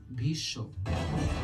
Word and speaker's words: Bhishma: Also take the example of Bhishma in Hindi. This is pronounced as Bhisho.